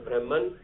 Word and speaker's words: Brahman: Brahma written as Brahman, pronounced as Brahma.